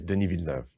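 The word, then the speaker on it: Denis: hi my name is den oh I see it's a French name that's why the first name has a silent s in it and that's why the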